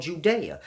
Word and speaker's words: Judea: Because when you're dealing with the Sumerian text, it's spelled G-U-D-E-A. And they didn't have J's back in those times. So you have to grasp. The G took on the J sound.